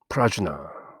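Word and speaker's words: प्रज्ञा: 프라주나. 이걸 한자로 옮기면은 반야가 되는 것이죠. 반야심경을 프라주나 파라미타 수트라 그렇게 부르는데요. 프라주나, 프라기나라고 또 뒤에서 발음하기도 하는데요.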